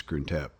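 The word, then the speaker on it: Krung Thep: So Grunt is how you say Bangkok by the way. I I don't know where Bangkok comes from. That's like the foreigner use of it, but the real name is is Gruntep.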